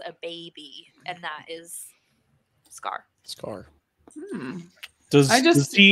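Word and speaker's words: Skaar: comment before people comment it is spelled s-k-a-a-r is how you spell scarf like sakar but scar Sky I've had dyslexia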